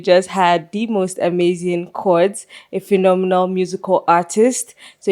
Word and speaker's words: Pchords: Cords without the P without the P. The P is silent. Very much silent. So ladies and gentlemen, we just had the most amazing chords, a phenomenal musical artist.